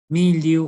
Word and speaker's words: mildew: Mildew, o mildew que se pronuncia, o bremia también, es